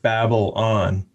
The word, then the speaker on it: Babylon: Babylon, it's spelled like the city, Babylon. Ancient city. Yeah. But it's, when she sings, it's like babble on, because she says Babylon, gossip, gossip.